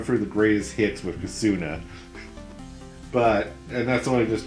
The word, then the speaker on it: Kosuna: It's Cassuna. Oh, yeah. Cassuna. Yeah, you're getting the name wrong there.